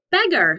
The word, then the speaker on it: beggar: that helps us remember that sometimes ar says er beggar very good it's a